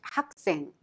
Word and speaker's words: 학생: 학생 of 학생 식당 is pronounced 학생. The final consonant 기억 in 학 of 학생 meets the S sound short in 생 and turns into strong tension sound, thereby pronounced 학생.